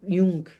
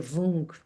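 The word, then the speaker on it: Vuong: um Instante, do Ocean Jung. Não sei se é assim que pronuncia, Wung, é com V, V-U-O-N-G.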